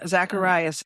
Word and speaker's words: Zacharias: Hold on, let me make sure I'm getting Am I pronouncing it correctly? Zacharias.